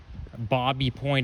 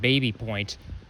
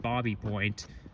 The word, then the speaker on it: Baby Point: And the reason it's pronounced Bobby Point and not Baby Point is because he was French, I believe.